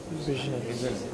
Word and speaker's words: vision: gives other members there vision. vision for It the is pronounce this word right. Aparna, just wait there. Keep standing. Vision. Yeah. You know, like you say shh. Similarly, it is vision.